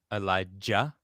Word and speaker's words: Elijah: me slightly or elijah elijah with a with a ja is that how you would pronounce it yeah in hebrew yeah well to be more hebrew but yes elijah very pronounced not ja not ja that's not how it's pronounced it's with a hard j eli i've been saying